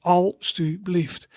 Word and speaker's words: alstublieft: So for example, with this word, alstublieft, you see three syllables, alstublieft.